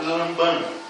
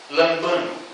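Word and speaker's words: λαμβάνω: grega no orinal que poderíamos pronunciar como lambano mais ou menos assim a pronúncia desta palavra aqui neste versículo lambano que significa pegar mas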